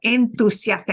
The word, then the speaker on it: entusiasta: Because we have enthusiastic and we have a th, but we don't have that in Spanish. We have entusiasta or entusiasta.